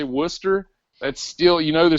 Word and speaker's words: Worcester: you've never heard a Worcester Massachusetts how would you spell Worcester w u s t e r all right so Worcester is spelled w r c s e r it's crazy and and